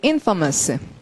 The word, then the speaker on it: infamous: 발음은 infamous.